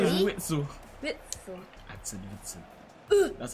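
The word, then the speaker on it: Witsel: Witzel.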